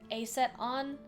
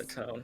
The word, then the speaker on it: Acetone: Oh, like A set with an O-N at the end?